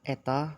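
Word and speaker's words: η: mempersamakan transportnya sebagai berikut ini teman-teman a ini dibacanya Eta Hai turunan terhadap diturunkan terhadap tiga ditambah beta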